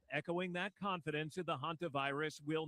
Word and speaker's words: Hantavirus: Hantavirus, that's how you say it.